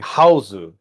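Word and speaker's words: Hausu: Well, it's it it's Japanese, so it's actually Houseu.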